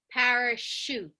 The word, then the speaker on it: parachute: parachute parachute yeah um what sound is that CH sh yeah it's like yeah like a cliche like she yeah a good Meg so so uh CVA we would use for that y see where Megan cursor is there that that sh clue that it comes from French is the H with that sh sound now not always so you